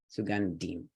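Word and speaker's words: सुगन्धिम्: rules would still apply if there are multiple consonants first one goes left all the other ones go right Sue gun Tim gun demon sugandeem okay then we have this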